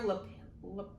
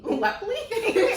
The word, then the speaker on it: Lepley: His name is Tyler Lapel? How do you say that? No. Lepley? Lepley. Lepley? She said Lapel, and his name is clearly Lepley.